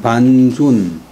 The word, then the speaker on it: 반준: 육손 그 다음에 반준 반은 사람 성이나 땅이나 할 때는 발음은 반 그 다음에 그 우리 쌀 씻은 물 떠물할 때는 발음을 번 준은 깊을 준 반이 성이고 준이 이름인데 이 반시도 중국에 상당히 많이 있어요.